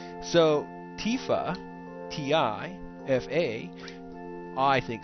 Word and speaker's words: Tifa: Because Tifia would make it sound like there's an extra letter there that's missing. And Tifa just doesn't sound right. So Tifa, T-I-F-A, I think sounds the best.